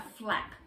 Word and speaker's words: flap: that is called a flap it's often pronounced for lap because it's actually got two sounds to it so what we're doing